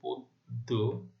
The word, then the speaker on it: পদ্য: তাহলে নিয়ম অনুযায়ী কি হবে? আদ্য অ এর উচ্চারণ ও এর মতো হলো পদ্য।